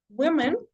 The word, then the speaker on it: women: And then for women, we say women, and then women, right? Woman, women. Entonces, lo que cambia en realidad es la O en la pronunciación.